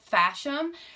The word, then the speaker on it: FASHOM: by a company called FASHOM so it's a lot like fashion but there's an M at the end but it's spelled FASHOM and they are a